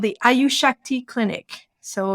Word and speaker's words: Ayushakti: based in India in Mumbai it's called the ayushakti clinic so it's spelled a-y-u-s-a s-h-a-k-t-i and it's ayushakti in Mumbai and and if you want I